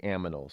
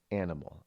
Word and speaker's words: animal: And aminal is actually not the real way you pronounce animal. I know, because some people out there, look, Rod can't even pronounce animal correctly. He says aminal, like he's like a little kid.